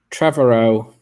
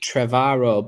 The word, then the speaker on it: Trevorrow: to me um anyway trevorrow some people some people say trevaro but there's no a in there for me to to pronounce it like that cavarro yeah hotel travaro